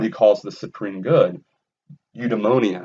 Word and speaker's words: eudaimonia: calls the supreme good eudemonia i said it right you demonia you diamondia however you want to say it okay flourishing a